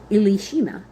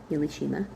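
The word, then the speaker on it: Elishama: Elishima, Ilishima, E L I S H A like Elisha.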